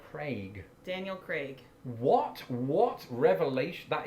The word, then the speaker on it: Craig: Okay, so the Bond actor, Daniel Craig. I still haven't seen any of those films. I don't know why shame on me. we're saying But I Daniel pronounce Craig. his name Daniel Craig.